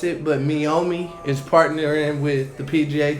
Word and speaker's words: Meiomi: You was almost correct, Okay. but you pronounced it like May. Oh. Yeah. Oh, somebody been on their anime. Meiomi.